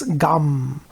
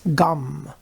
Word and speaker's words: Gam: his bija mantra or seed mantra which is gum when you simplify it all down to the smallest simple syllable one syllable you can chant is just gum GA m gum mmm that's a simple